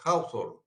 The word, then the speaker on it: Hawthorne: Entonces, digamos, ahora vamos a entrar en detalle, gracias Marcela, gracias Ailén, el experimento de Hawthorne, así se pronuncia, Hawthorne.